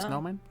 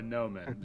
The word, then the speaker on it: gnomon: And atop that, it's no longer an overturned tree, but is instead, I hope I'm pronouncing this correctly, a gnomon. A snowman? No, a gnomon.